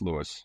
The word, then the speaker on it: Louis: Well, usually uh you know it's technically pronounced Louis, but everybody calls me Lewis. So it's Lewis.